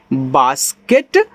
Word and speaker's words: base: देखो जब ए के बाद एक लेटर छोड़ करके ई आता है तो ए का उच्चारण एक ही मात्रा के रूप में होता है, तो आपका बी से बा ऐसे एक ही मात्रा, बाकी इससे आपका साथ। देखो लास्ट वाली का उच्चारण हुआ नहीं है, तो ये आपका लिखा है बेस।